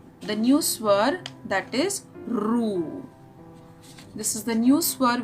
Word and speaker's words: ऋ: This akshar, this swar is called as Ru. Okay, it is pronounced as Ru.